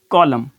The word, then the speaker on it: column: अब ऑटम, अब वर्ड है कॉलम, COLUMN। अब देखिए यहाँ पे कॉलम, ये जो है ना N जो है यहाँ पे ये साइलेंट बताया जा रहा है।